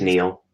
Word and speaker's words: Niall: you pronounce his name I think it's just Neil Neil Neil Ferguson really okay well